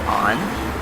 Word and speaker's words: On: um my name is on it's pronounced on like on and off so you probably already